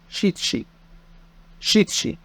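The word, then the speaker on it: しち: خمسه جو جو رقم سته روكو رقم سبعه شيتشي شيتشي وممكن اقول نانا نانا رقم تمانيه رقم تسعه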